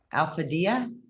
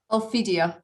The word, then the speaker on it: Ophidia: Alphadia? I know I butchered that. How do you say it? Ophidia, yes.